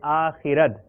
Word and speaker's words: آخرت: صحیح تلفظ ہے آخرت.